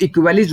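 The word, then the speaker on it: aequalis: तो इक्वेलिस वर्ड से आया हुआ है, ठीक है। यहाँ पे ये जो ए होता है, ये ए साइलेंट होता है, ठीक है।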